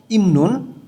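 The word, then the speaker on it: 입는: ইমনুন পরার, বিয়োগ বাচ্চামের পরে নিউন আছে, বটা ম উচ্চারণ হবে, ইমনুন পরার, সারামদুরি মানুষজন,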